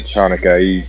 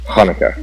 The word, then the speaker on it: Hanukkah: at him SP chica doesn't mean you pronounce it Chuka you pronounce it in Hebrew it's Hanukkah see now I don't